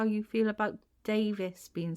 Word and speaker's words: Davies: can I ask you how you feel about Davis being said wrong cuz a lot of people call this me Davies I don't like Davies no it's not right